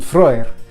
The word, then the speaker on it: Frey: energies and thinking on Frey, as most would pronounce it. The EY makes the oi sound in Old Norse.